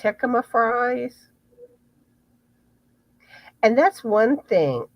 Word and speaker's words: jicama: Here's a recipe for I think it's pronounced jicama fries.